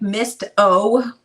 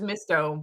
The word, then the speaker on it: Misto: Is it spelled like Mist-O? Yeah. Okay. It was misto, but she's like, no, it's misto.